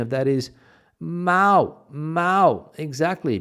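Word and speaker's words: Mahou: pronunciation of that is ma ma exactly because the H in Spanish is silent my f my father when he comes pronounces it uh uh mahu of course never gets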